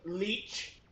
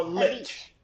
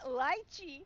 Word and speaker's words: lich: All right, so it can be said two ways. It's either leech, like a leech, or lich. Yeah, but not lychee.